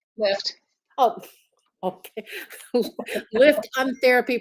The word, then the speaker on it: LIIFT: Jen, how do you pronounce that? Lift.